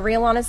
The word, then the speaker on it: Rhea Lana's: Just search for Real Lanas of Mountain Home. Okay. And there's it's spelled RHEA space LANA as we have it on the screen on the graphics there.